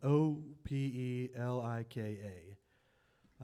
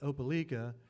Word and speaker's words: Opelika: passed through Alabama I guess it was spelled o p e l i k a uh and so sometime later when we got